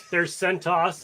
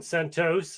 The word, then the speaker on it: CentOS: So there's CentOS and CentOS and CentOS, and Jim Perrin actually just says Cent.